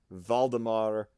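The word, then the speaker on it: Waldemar: diminishing draft by and it's is German so I'm saying a v but it's spelled w uh valemar K prer just search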